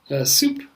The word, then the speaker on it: soup: And the word that people often confuse it with is soup, which is spelled like S-O-U-P. And so the first one is soap, and the second one is soup.